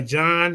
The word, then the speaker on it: John: in a new language which is why John has a silent h in it in his